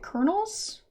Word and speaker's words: colonel: room must be the i think you'd pronounce it kernels i i think that's how you pronounce it it's not really a word i have to pronounce so yes colonel sorry um there